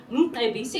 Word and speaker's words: Mcebisi: And this particular minister had one right at the beginning of his name. I present to you Minister Mcebisi Squatcher.